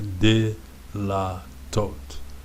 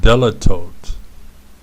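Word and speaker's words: דלתות: did a lot talked there is a schwa again D so it doesn't stop the syllable because there was no syllable to stop so it's the beginning of the word so it's a de la tote so this is doors more than one door so it's not della tote it's not del delito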